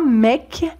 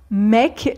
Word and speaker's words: mec: Ensuite, pour un homme ou un garçon, on peut dire un mec, un mec. Donc ici, c'est un E ouvert comme dans mère. Un mec ou un gars, un gars.